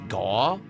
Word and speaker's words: Gau: So, his name I believe is Gao. That's how you pronounce it. But some people say it's Gau. And I think I think it's supposed to be Gao, but again, no one pronounced the names of the characters back in the day. So, I can't be 100% sure, but I'm almost positive it's Gao.